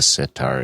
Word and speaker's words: sitar: what a sitar is everybody knows what a sitar is cuz it rhymes with guitar I never thought of